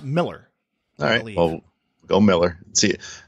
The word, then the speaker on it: Millar: Miller yeah I've heard I've heard people say Millar but I've heard I think maybe even him say that cuz I think he's Scottish right but he's pronounced Miller alright oh oh Miller